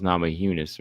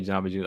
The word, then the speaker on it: Namajunas: Just yeah, the same way we say Namajunas with the Y, because I know some people say Namajunas. I never say Namajunas. I always say Rose Namajunas because I always hear it being said that way.